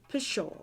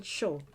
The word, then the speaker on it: pshaw: i was a child sure pronounced pusho or for sure or even show is an expression of